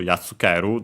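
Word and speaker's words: やっつける: But here we can see that we have, instead of the ri, a small tsu, maybe because the i fell, and so it became yartsu, difficult to pronounce, so simply the doubling of the following consonant with the small tsu, or simply influenced by the following tsu.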